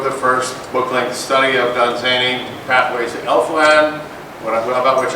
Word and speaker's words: Dunsany: scriber," which is, so we need something like Dunsany rhymes with rainy. Right, there you go. Fun and zany, that's Dunsany. And I wish somebody tell Neil Gaiman that it's Dunsany, not Dunsany.